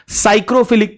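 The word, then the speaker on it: psychrophilic: प सरवाइव करने वाला साइक्रोफिलिक पीएस वाई जिसको बोलते हैं पी से स्टार्ट होता है पी साइलेंट होता है साइक्रोफिलिक मिलेगा कम टेंपरेचर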